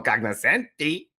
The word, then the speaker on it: cognoscenti: moment, The G is silent in Italian. No. You know how I feel about it. It's No, how pretentious. cognoscenti.